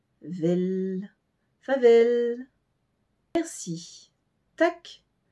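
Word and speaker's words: tak: l mais plus un e vel favel merci tac t a K c'est le plus facile des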